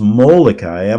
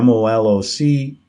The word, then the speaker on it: Malachi: Saint Molokai, now frequently misspelled as Malachi, pronounced Molokai, Molochy, is regarded as the foremost prophet of the Roman Catholic Church.